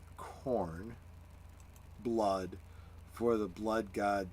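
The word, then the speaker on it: Khorne: printing but I don't have one also it's pronounced corn blood for the blood God skulls and the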